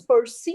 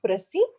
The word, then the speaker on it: perseverance: were used such as perseverance was pronounced as perseverance so it's percy not pressy number three i felt